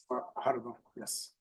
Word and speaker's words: Guajardo: Guajardo, yes. I'm sorry. I'm just gonna say sir. I'm just gonna call you sir. Think of guacamole, Judge.